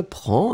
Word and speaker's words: prends: So, je prends, and remember, DS, Tu prends des S, il, elle prend des. We pronounce them exactly the same way, but still, keep in mind that we should definitely write them like that.